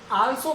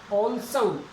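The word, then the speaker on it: also: जैसे ये वर्ड आता है, बहुत से लोग इसको आल्सो कहते हैं, आल्सो। आल्सो नहीं है ये। अगर इसका सही ट्रांसक्रिप्शन हम करें ना तो बनेगा, देखो ओ की साउंड आ रही है सबसे पहले, ओ, ऑल्सो, ऑल्सो, ऑल्सो, ओ, ले, से, ए, ऊ, ऑल्सो, ऑल्सो।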